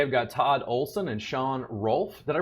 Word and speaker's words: Shon Rolfe: Today I've got Todd Olson and Shon Rolfe. Did I pronounce that correctly, guys?